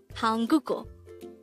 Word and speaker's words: 한국어: this is pronounced as a three syllable word the first syllable is han second syllable is third syllable is o pronounce it with me hanguko the word hanguko